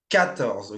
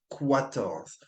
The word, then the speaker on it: quatorze: Again, make sure you don't pronounce the QU like a qu, right? It's 14, okay? Not quatorze. 14.